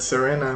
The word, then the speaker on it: Serena: about the power that serena and veronica have uh i i say serena because serena is actually and veronica too are actually italian names so uh that's we pronounce it in italy um so i was